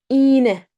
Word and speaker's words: iğne: See, we do not pronounce it. Not eğlence, eğlence. Right? İğne, iğne.